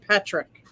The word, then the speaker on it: Podrick: Is it Patrick or Podrick? I thought it was Patrick. It's spelled Podrick, but pronounced Patrick.